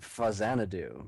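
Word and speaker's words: Faxanadu: know this one um that game is pronounced fanad do because it is it is actually a sequel to a series of games in Japan called Xanadu and that was the NES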